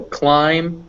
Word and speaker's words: climb: So yeah, so climb, climbing, comb, combing, numb, numbing. It's always pronounced just if it's after an M.